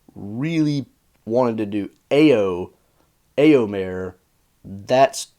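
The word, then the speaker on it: Éomer: much in a sense I think the correct pronunciation will be more like elmir so it's like you say it so fast that it's basically one syllable and basically sounds like one sound even though it's really not so elmir failed in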